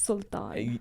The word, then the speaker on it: Sultan: It's Sultan. Everyone pronounces the name slightly differently, adjacently.